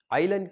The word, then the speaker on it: island: Island කියන වචනේ S අකුර නිහඬයි. S is silent in island.